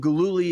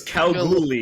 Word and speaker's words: Kalgoorlie: Like JC, you are in Gululi has been soft on you, bro. You're getting soft. Too much swimming. Gululi. It's Kalgoorlie.